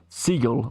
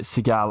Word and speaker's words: Seagal: so how's it pronounced so it's pronounced he's from under siege yeah okay and he's pronounced siegel although i've always read it seagal okay so steven segal okay that's how i initially originally thought about it drunken fish says pc